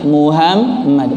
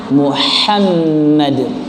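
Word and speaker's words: محمد: Orang banyak menyebutkannya dengan sepele. Bilangnya apa? Muhammad. Padahal Muhammad dengan ha yang keluar dari tengah tenggorokan, posisinya coba dipegang. Ada jakunnya enggak? Enggak ya. Kalau ada jakunnya berarti ada yang nyamar. Ya, di sini di al-halq, wasatul halqi, tengah tenggorokan.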